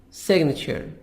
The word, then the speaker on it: signature: a person's handwritten name the verb sign in the verb booming the G silent but in the now and whose a signature a person's hand retina will make we pronounce the letter G Arabic script Arabic script